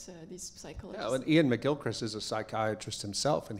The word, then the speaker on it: McGilchrist: Am I pronouncing Ian it? McGilchrist.